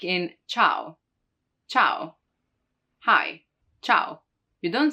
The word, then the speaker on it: ciao: in ciao ciao hi ciao you don't say ciao so it just modifies the hard sound and it makes it a soft sound right not cow but ciao so you know that it's soft like in cello cello